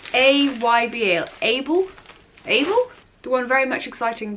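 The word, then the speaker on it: AYBL: How do you pronounce? It's A-Y-B-L, Able.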